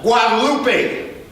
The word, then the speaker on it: Guadalupe: Just stroll about 7 blocks down Guadalupe. Look at them. And it's pronounced Guadalupe.